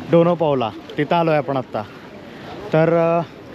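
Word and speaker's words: Dona Paula: मित्रांनो हेच ते गोव्यामधलं सर्वात सुंदर आणि मोस्ट अट्रॅक्टिव्ह प्लेस असलेल डोनो पावला डोना पावला थोड प्रोनन्सिएशन मध्ये गडबड होते पण ठीक आहे सो मित्रांनो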